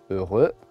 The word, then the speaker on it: heureux: ne se prononce pas heureux le X ne se prononce pas la règle générale les